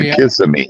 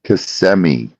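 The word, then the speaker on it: Kissimmee: But it's not kissing me. It's cmi.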